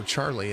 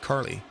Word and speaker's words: Carlie: Her name is spelled Carlie, and everybody used to put an H in her name and call her Charlie and not Carly.